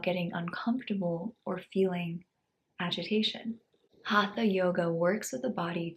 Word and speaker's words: hatha: The word hatha is often translated as forceful, but its deeper meaning is much simpler. It's made of 2 syllables, ha and tha.